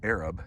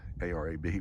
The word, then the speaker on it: Arab: We are in Arab, Alabama, what you would normally call Arab, A-R-A-B, but it's pronounced Arab down here.